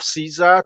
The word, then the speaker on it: Caesar: of zah or Cesar the closest pronunciation of Caesar to The Original Latin is the German Kaiser because the original pronunciation